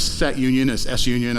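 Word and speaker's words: SUNION: And you've got S set union is S union. I like to pronounce it sunyon or sun ion.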